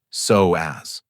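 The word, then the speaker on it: psoas: It's called the soas, pronounced soaz, and Japanese researchers call it the muscle of the soul because of its profound connection to emotions in your nervous system.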